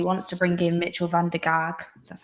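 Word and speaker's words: van der Gaag: my house he wants to bring in mitchell van der gark that's how you say it and also there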